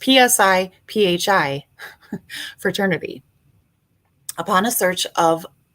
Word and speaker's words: Psi Phi: sci-fi is that how you say it it's psi phi fraternity upon a search of law enforcement computerized